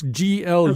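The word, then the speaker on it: Glück: I think you say her name Louise Glueck. It's Glueck. Glueck.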